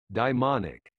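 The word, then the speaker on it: daemonic: the past 25 years derives from the Greek Diamond meaning a spirit of lower Divinity than the Olympian gods hence my pronunciation demonic the outcast Oedipus becomes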